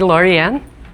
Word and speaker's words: Loriann: Only call me Loriann, because remember that it's Lori, and it rhymes with Signori.